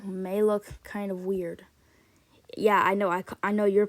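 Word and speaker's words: Е: like fix it like yeah good as new this next letter this next letter may look like an actual e but it actually is not a e it's pronounced yeah and due to this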